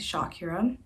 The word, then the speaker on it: Shakira: me yeah so anyways my actual name pronunciation is shakira but since i was